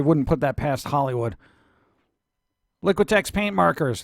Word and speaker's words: Liquitex: put that past Hollywood liquitex paint markers liquitex effects you gotta say it like you have liquid in your mouth works Tombo Tombo what